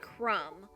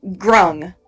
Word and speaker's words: grung: Okay, so I keep hearing the word crumb. What? Oh, sorry, grung.